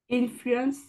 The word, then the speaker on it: influence: Alors, a big Influence, influence. influence. Voilà. On prononce moins le en. Il est moins grave.